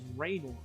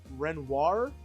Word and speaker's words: Renoir: I also saw a lot of people questioning my French-speaking skills because I pronounce Parasol's last name as Raynor, but it's supposed to be pronounced Renoir because accents and language and, they're based off French people.